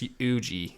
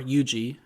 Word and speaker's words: Yuji: was he had real high hopes for this ugee guy interesting because they've only known each other for such a short time and he's already itadori or yuji i'll say it right since for some reason